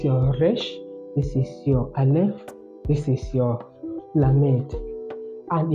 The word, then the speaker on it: aleph: This is a silent letter, and that is your aleph.